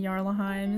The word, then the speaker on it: Jarlaheim: So if Jorvik is spelled with a J and Jarlaheim is spelled with a J but pronounced with a Y, then why is Yidris's name not with a J?